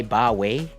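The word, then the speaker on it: bawi: for the most part I say bye way uh so the spelling for that in Tagalog is b-a-w-i yeah more or less that's like how you pronounce it essentially means just uh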